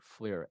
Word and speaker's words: FLIR: from whom it's from FLIR the same company Fleer f-l-i-r we just put it in the lower